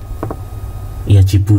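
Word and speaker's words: يجب: Dan ini ya, ini adalah yajibu ya bacanya ya, wajib.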